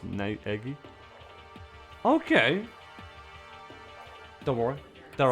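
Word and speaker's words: Naegi: that one because uh his last name is pronounced n eggy okay okay don't worry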